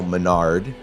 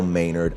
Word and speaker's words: Maynard: name in the podcast i said kyle menard and it's clearly kyle maynard i know that i